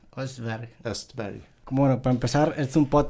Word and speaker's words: Östberg: En sueco sería Östberg. Östberg.